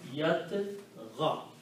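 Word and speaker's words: يطغى: So the sound of this dhamma is not pronounced. So pronunciation will become yat ga. Ya is written. So this will become yat ga, like that. Yat, this little alif is the sound of this ghain. It's called alif maqsura, short alif. It's not pronounced long, yat ga.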